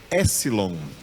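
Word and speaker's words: έψιλον: Essa palavra, esse nome dessa letra, epsilon, o P é mudo. O P está escrito aí, mas ele não é pronunciado. Então, a pronúncia correta dessa letra em grego é epsilon.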